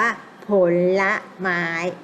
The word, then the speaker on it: ผลไม้: ไม้ ใช่ ไหม คะ เอา ผล กับ ไม้ มา รวม กัน แล้ว อ่าน ว่า ผลไม้ เห็น นะ คะ นี่ คือ เรียน แบบ คำ สมัคร นะ คะ ก็ มี การ อ่าน ออก เสียง เรื่อง คำ ที่ หนึ่ง คำ ที่ สอง ด้วย นะ คะ เรา ไม่ อ่าน ว่า ผล ไม้ แล้ว อ่าน ว่า ผลไม้ คะ อ่ะ แต่ อัน ที่